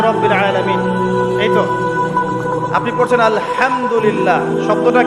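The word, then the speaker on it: الحمد لله: এইতো আপনি পড়ছেন আলহামদুলিল্লাহ।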